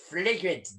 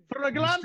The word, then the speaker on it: flagrante: Photographs of you and Yvette in flagrant delicto, remember? Flagrante Mr.